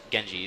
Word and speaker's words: Genji: looking to do with your ultimate um with Genji that's how you pronounce it um it can be used to